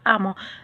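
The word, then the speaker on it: emment: Alors pour former un adverbe de manière, il faut un adjectif qualificatif au féminin plus le suffixe ment, M-E-N-T, ou bien amant, E-2-M-E-N-T. ولكن ينطق amant.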